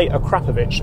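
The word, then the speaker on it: Akrapovič: the extra money on its own it's by a crapper yes that is how you pronounce it and adds a local character from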